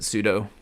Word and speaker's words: sudo: that I've heard but I do pronounce it sudo more like it rhymes with Judo because I I don't